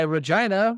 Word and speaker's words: Regina: Regina which is why Regina rhymes with fun they did run that